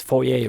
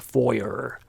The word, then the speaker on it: foyer: It's foyer, remember, not a foyer.